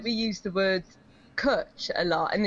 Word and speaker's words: cwtch: a special hug, but it's spelled CWTCH because the Welsh language doesn't have vowels. It's got like two extra vowels. It's got W and Y as vowels.